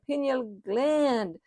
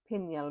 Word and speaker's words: pineal: It also helps with your circadian rhythm, stimulating the pineal gland to release melatonin. I say pineal, but that's how we pronounce it. But I know here it's pronounced as pineal gland.